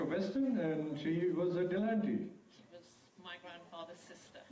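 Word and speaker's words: Delahunty: Because in French it's written de, la, and then H-U-N-T-Y. Okay. But an H is never pronounced in French. Right. So they say Delanty.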